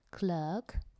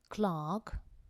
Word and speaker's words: clerk: is a bank clerk clerk American pronunciation Clark British pronunciation American and British Expressions